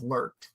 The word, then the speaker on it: lurk: And instantly we came up with lurk. Rhymes with murk.